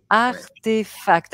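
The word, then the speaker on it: RTFKT: alors si on tape RTF KT donc ça se prononce artefact mais RTF KT se prononce artefact ah mais oui c'est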